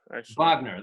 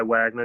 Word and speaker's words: Wagner: or vogner it's Wagner Wagner that's the correct German pronunciation right yes correct okay